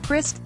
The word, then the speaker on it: Christ: The brand was built on focusing on the guest experience, said David Christ, pronounced Christ, the Toyota veteran who succeeded Jeff Bracken last month.